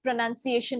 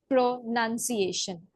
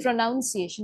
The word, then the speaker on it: pronunciation: And regarding a pronunciation I think very few words here and there were mispronounced like the word pronunciation itself. Okay. So how we say it is pronunciation.